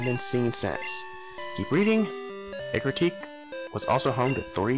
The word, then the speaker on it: Ecruteak: I need a history of Ecruteak. That's how you pronounce it, Ecruteak.